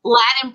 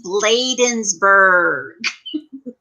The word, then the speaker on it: Bladensburg: gps in my head they'll say latin i'm like it's bladensburg ladies laden like later hosen kind of like but bladensburg and they'll say they'll spell